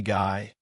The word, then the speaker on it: Guy: And yes, his name was literally Guy and pronounced Guy.